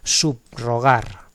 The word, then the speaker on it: subrogar: Subrogar, ¿vale? Pero no hay que decir una r suave, subrogar, no, no, no, no.